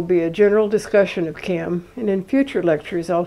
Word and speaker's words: CAM: and that's a mouthful it's easier to cut it down to one syllable and just call it by its acronym kam sometimes kam reject science